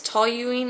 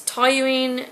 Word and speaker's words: toluene: And it's toluene. I can never pronounce it.